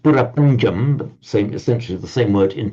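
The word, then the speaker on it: பிரபஞ்சம்: prapancha in Tamil, and he said yes, it's pronounced purapanjam, essentially the same word in Tamil, but in Tamil it means creation, as in divine creation.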